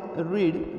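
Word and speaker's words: read: रीड रेड आणि रेड बघा spelling रीड चीच आहे पण उच्चार निघताना दुसऱ्या आणि तिसऱ्या रूपासाठी रेड असा काढला जातो बघा दुसरं जे रूप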